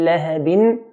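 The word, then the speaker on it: لهبٍ: Then we have the word abi lahabin. Bin here, ba with a kasratan. This means ba has a tanween. So it's originally ba with a kasra and a hidden noon that's not written but pronounced.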